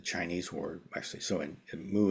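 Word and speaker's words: 無: word actually so in moo is the Japanese pronunciation it's also the Korean pronunciation but it's a same word in Chinese which in Mandarin modern Mandarin pronounced more like woo um but regardless of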